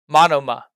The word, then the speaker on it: Monoma: his personality and that's uh mona uh mo monoma yeah that's how you say it matama and